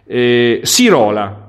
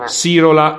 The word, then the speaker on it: Sirola: poi magari le cifre sirola ok sirola ok grazie arrivo diceva l'accento sulla o perché poi siro la siro la no sirola ok dicevo no diego